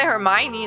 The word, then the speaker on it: Hermine: Maybe you can say Hermione then, I guess. Or like Hermine if it's... But Hermine is a German way.